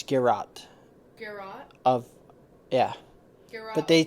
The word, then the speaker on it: Geralt: But Garou? No, it's Geralt.